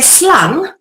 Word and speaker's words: slang: also very interesting because in the Dutch language slang if you say slung that's a snake that is a serpent